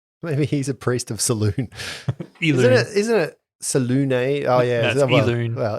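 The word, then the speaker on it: Selûne: he's a priest of saloon isn't it oh yeah well in Forgotten Realms I believe it's pronounced Saloon as in the moon oh the Priestess of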